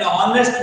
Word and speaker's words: honest: Here, third is that when H is silent. I gave you an example: an honorable man, an honest man.